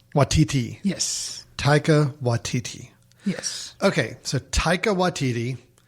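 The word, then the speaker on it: Taika Waititi: Oh, Grace, you're gonna have to help help me with the pronunciation of the director. Taika Watiti. Taika Watiki. Watiti. Yes. Taika Watiti.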